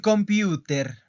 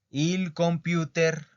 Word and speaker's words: computer: Il computer. Ojo con esa pronunciación. No se dice como en inglés. Computer, computer. No. Il computer, computer.